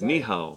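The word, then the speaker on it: 你好: Ni hao. Ni hao. It's spelled hen hao.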